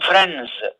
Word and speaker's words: friends: Among friends, D is voiced consonant sound and it is voiced consonant sound so that it is pronounced as Z. Friends.